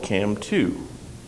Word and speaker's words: CAMM2: compex was a technology called cam 2 that's spelled c mm2 but what is Cam